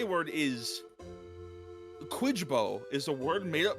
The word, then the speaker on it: Kwyjibo: And the final K word is Quidbo, is a word made up by Bart during a game of Scrabble with his family. Quidbo.